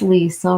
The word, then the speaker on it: Lisa: My name is Lisa, rhymes with diesel.